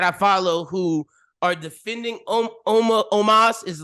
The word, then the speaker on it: Omos: Is it almost? Omos? There we go.